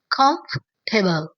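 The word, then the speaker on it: comfortable: आपने इसे कंफर्टेबल नहीं बोलना बल्कि आर को साइलेंट कर देना है। अब बोलेंगे कंफर्टेबल। कमफर्टेबल कंफर्टेबल फर नहीं बोलना।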